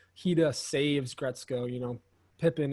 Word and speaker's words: Haida: Is it Hide? Haida. Haida, that's right.